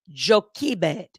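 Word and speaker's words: Jochebed: just doing it uh jokey bed because it's spelled differently we would call it Joshua bed um it's spelled j-o-c-h-e-b-e-d but it's pronounced joki bed and so Moses's mother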